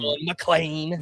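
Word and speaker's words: McLean: I I've been trying not to call you and Scott out since he got called up, but it has been Mlan the whole time.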